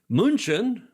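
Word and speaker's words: München: Munchin, the German pronunciation of Munich, invited residents and guests to open fields outside the city walls for public joy and sport.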